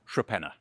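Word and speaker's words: Torpenhow: yet as I said in good English fashion the pronunciation is nothing like the spelling the locals would actually call it tropena don't ask me why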